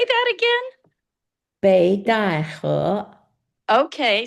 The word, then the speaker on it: Beidahe: Beidahe. Okay. See, I always called it Pei Tai Ho. You can call it that.